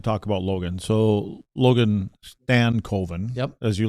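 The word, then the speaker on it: Stankoven: So Logan Stanco as you like to say or do you like to say Stanovven? No, it's it's properly pronounced Stanovven.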